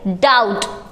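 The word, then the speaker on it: doubt: डाउट।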